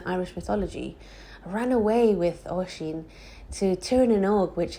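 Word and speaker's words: Oisín: Oisin is pronounced Oisin.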